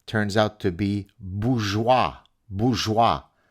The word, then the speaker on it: bourgeois: out to be Bourgeois bourgeois it's first of all it's called bourgeois right it's Bourgeois learn how to pronounce a French word before you pontificate like